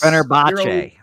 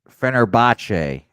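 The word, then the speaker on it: Fenerbahçe: Fenerbahce. Fenerbahce.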